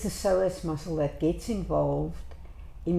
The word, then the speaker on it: psoas: Most of the time, it's the psoas muscle that gets involved in the shortening of the body on one side. Psoas, with a silent P, plays a huge role in the pelvis.